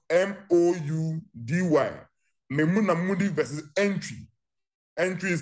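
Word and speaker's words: Antwi: Memuna Mudi versus Entry. Entry is spelled A-N-T-W-I.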